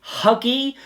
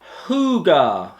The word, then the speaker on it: Hygge: welcome to a review for what I call Huggy but is apparently pronounced Huger h- G ah yes apparently that's how that